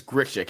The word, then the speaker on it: Grichuk: uh well number one I think it's grishek if I'm not mistaken that's how I